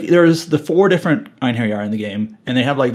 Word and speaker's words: Einherjar: Also, the way that Einherjar, or Einherjar stories, I'm always going to pronounce it Einherjar, because that's how they did in the original Valkyrie profile.